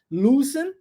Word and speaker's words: loosen: Mais uma vez, os dois Os pronunciados como U. Lembra de look, ó, de olhar, loosen, e agora há pouco a gente viu, né? Outra palavra também com dois Os, mesma pronúncia, mesmo padrão. Loosen. Loosen é igual book.